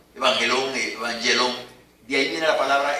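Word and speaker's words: εὐαγγέλιον: Esa es una palabra griega que se llama evangelón, aproximadamente por ahí. No me jacto de pronunciar bien el griego, pero por ahí va. evangelón, evangelón.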